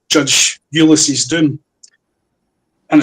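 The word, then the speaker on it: Doum: 3 called Judge Ulysses Doom. And it's spelled D-O-U-M, like the Doom tree from Chad in Africa.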